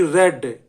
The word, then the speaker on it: read: रोट, WROTE, उसने पढ़ा, ही रेड, spelling वही रहती READ, लेकिन रेड पढ़ा जाएगा.